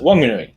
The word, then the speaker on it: Whanganui: aspect, it's now called Whanganui, which is how other iwis pronounce that spelling of that name. But the locals, at least as far as I have been educated, pronounce it Wanganui.